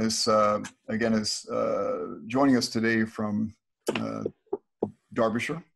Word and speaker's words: Derbyshire: But Sharon is joining us today from Derbyshire. Did I pronounce it the right way again? You absolutely did.